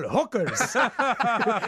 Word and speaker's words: Jokers: voices into Spanish but in Spanish of course the word Jokers J pron pronounces as an H so when you listen to the show it's like impractical hookers impractical hookers that's another